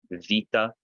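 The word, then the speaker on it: βήτα: Could I pronounce beta again? Yeah, so Vita.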